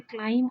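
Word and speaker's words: climb: ये देखिए कि ये इसमें क्लाइम और टाइम एक जैसी आवाज़ है, क्योंकि इसमें बी जो है वो साइलेंट है और क्लाइम इसको बोलेंगे और साथ टाइम ये भी हीरोइक कपलेट है।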